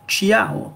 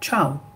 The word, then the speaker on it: ciao: tché tché temps ici par exemple ne l'ont pas lire xiam on va dire ciao on ne prononce pas